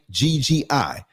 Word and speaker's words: Maggi: It is believed that some African women these days resort to the use of food seasoning, particularly, how do you pronounce it? Maggi cubes. It's Maggi.